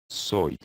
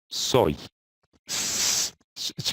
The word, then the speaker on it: soy: Japan you sure and in this case it's pronounced like the eye SOI SOI okay and